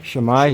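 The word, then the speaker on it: Shwmae: Shwmai.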